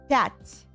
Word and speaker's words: пять: Пять. Wait, dots or butts? Пять. With a P. Pet.